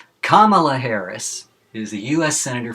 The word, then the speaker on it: Kamala: Okay, so by now, everybody, especially in California, should know how to pronounce her name. It's Kamala, not Kamala.